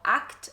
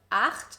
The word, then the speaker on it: acht: A lot of times German learners pronounce the CH sound as a K, so acht instead of acht, so make sure to pay attention to this.